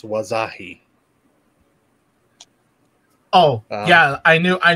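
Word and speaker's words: Wahzhazhe: way Tony um indigenous person right here it's pronounced wasahi oh yeah I knew I knew I knew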